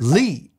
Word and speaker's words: Lee: It kind of looks like Leah, and I bet you never heard it being pronounced. No, this is another one of those cases where I've actually heard the name many, many times, and I always think to myself, that's weird. They pronounced it without the A.